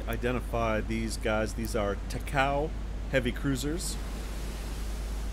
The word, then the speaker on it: Takao: these guys these are takao heavy cruisers takao is actually the correct pronunciation i guess named after a mountain just outside of kyoto so two cows